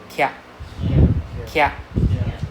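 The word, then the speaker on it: きゃ: Kia, right? If you speak Hen, you know, stay stay. So you know the Korean car brand, right? Kia Sarat.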